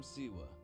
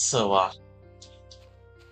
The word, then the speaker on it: Siwa: I'm Siwa. If you're pronouncing it wrong, it's Soa.